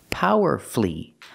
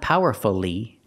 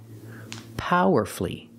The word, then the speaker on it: powerfully: we say power because the stress is on the first syllable and you have two syllables before f u l l y powerfully example she gave a